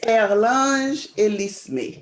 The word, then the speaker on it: Erlange Elisme: Her name is Erlange Elisme. Did I pronounce that right? Close. It's Erlange Elisme. You have to say it in French.